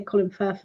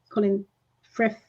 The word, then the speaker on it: Colin Firth: Colin, I always say it wrong because I want to say Colin Firth, and it's not Colin Frith.